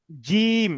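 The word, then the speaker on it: جيم: তাম জিম নয় জিম নয় এটা জিম যখন উচ্চারণ করবেন জীবের জীবের মাঝখানটা উপরের তালুর সঙ্গে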